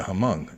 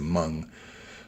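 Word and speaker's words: Hmong: It's the Hamong, Hm. I think it's pronounced the Mung, but they're the poppy growers in La La L.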